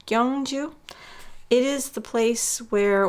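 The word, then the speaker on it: Gyeongju: To me, it looks like it's spelled Gyangju, but I think it's Gyangju. Gyangju.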